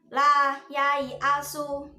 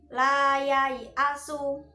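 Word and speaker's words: لا ييأس: Nah, yaknya itu juga panjang ya tertulisnya, kemudian di atas alifnya itu ada bulatan kecil. Tetapi meskipun tertulisnya panjang, kita bacanya juga tetap pendek meskipun wasol maupun wakof, tetap pendek. Ingat ya anak-anak, tetap pendek. La yai asu, ya-nya dibaca pendek.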